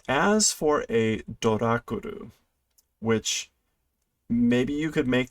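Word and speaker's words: ドラキュラ: So this is literally a male vampire and a female vampire, which they are pronouncing as Dorakuru, a Dracula, and the female vampire as a Doraculina, a Draculina.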